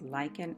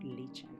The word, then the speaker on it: lichen: after my trip that it is actually pronounced lichen and not leeching dry plant give it